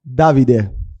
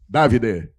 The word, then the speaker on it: Davide: Qual é a pronúncia certa? É David ou David? Davide. Davide.